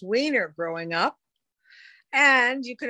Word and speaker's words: Weiner: i went to college i changed the pronunciation to weiner but i think the